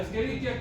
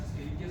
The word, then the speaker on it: Escherichia: coli, la Escherichia coli, que se dice Escherichia, quiere decir que su docente no sabe latín, porque es la CH se pronuncia K. La Escherichia coli es flora microbiana normal humana de los intestinos humanos.